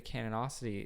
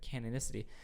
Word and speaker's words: canonicity: yes but but scripture the canity is something canonicity is something I keep saying it wrong is something that we